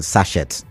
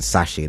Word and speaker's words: sachet: and you you know local P calls it sashet but Sashi that's the right pronunciation right Sashi um alcohol